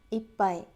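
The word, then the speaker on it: いっぱい: 걸 많이 들어봤을 거예요 그분들의 발음은 이런 식이죠 이빠이 이 파이 그리고 나는 일본어를 좀 할 줄 안다 라고 하시는 분의 발음은 이렇게 되어 이빠이 우리는 받침 이라고 하면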